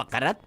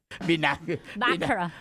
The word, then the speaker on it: baccarat: Di ba yung bakarat? Silent T. Akala ko kasi bakarat. Baccarat. Baccarat. Narinig ko sa commercial eh. Silent T pala yun.